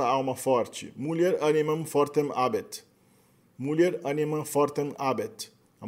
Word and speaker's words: habet: Habet é o verbo ter no presente, habet. No latim clássico, provavelmente na época de Júlio César, ainda se pronunciava o H como uma aspirada mesmo, habet.